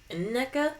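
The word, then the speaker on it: Nneka: us NECA or Nea is I think how Rel later told it's pronounced Ina yeah okay it's kind of like a long like a long n okay I think um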